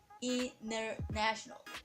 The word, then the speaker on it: International: second letter is wble then the T will be missed it means you don't need to pronounce the T for example if we